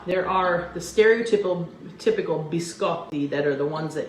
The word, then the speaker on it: biscotti: i've told you before we have a double consonant in italian you pronounced you pronounce both consonants so biscott and t so biscotti see how easy that is repeat it after me biscotti and look at this